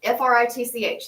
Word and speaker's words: Fritch: Fritch, like Okay, Fritch, rhymes, okay. rhymes with pitch.